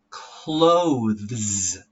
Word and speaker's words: clothes: The first one here, this is clothes. Very difficult word, so you have to try slowly. Say it like this. Clo. And then th. Z. Clothes. All right?